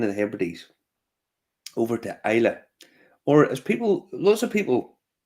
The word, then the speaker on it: Islay: So we went to the Queen of the Hebrides, over to Islay, or as lots of people seem to just pronounce it, Islay.